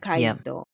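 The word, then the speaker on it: 赤い糸: Akaito. Mhm. That's how you say it in Japanese, guys.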